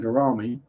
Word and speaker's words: gourami: To that does tell me that there is someone relatively local who is breeding giant gourami. Rhymes with pepperami.